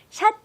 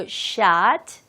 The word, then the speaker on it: shot: 거의 희박하다, 승산이 거의 없다라는 의미에서 long shot 말할 때 발음 샷 하지 마시고 shot 해보세요. 두 번 갑니다.